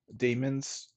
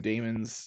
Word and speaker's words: daemon: it is a demon it is a demon I don't know why I call them Damon's um but you know what I might yeah it's an archaic spelling of of demon and it's demon pronounced demon I'm gonna pronounce some